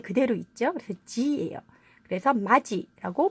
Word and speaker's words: 맏이: 단어는 어떻게 읽음 해야될까요 우리가 알고 있는 것처럼 마디 구디 같이 해도 d 여다 d 붙이다 이렇게 발음 하지 않습니다 4 오늘 기억해야 되는 것